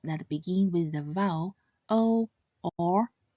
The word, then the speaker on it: ou: So, when pronounced quickly, this compound final should sound similar to the expression oh, oh, oh.